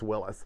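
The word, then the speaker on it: Willys: yeah his name is Willis but my argument is that that pronunciation has been completely lost to the vernacular no one says that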